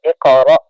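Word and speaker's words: اقرأ: একটু ধাক্কা দিয়ে পড়েন ইকর র শব্দ মানে শক্ত র হামজা মনে করেন কফ দুইবার উচ্চারণ হবে এরকম ভাবে ধাক্কা দিবেন ইকর ইকর আরেকটু শক্ত করেন হামজাটা হ্যাঁ ইকরা তারপরে ইকরা বিসমি ইসমি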